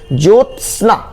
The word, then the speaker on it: ज्योत्सना: ज्योत्सना, अब देखिए जो फिर त फिर लगता है पूरा स है, जबकि स आधा होता है, ये ज्योत्सना, आधा त भी होता है, आधा स भी होता है, ज्योत्सना बोलते हैं।